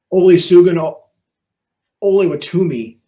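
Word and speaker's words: Olusegun Oluwatimi: Then, of course, the Michigan center that Lance just mentioned that I don't know that I can pronounce his name. It's Olusegun Oluwatumi.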